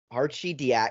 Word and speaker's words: Arcidiacono: Arcidiacono. That's how you pronounce that?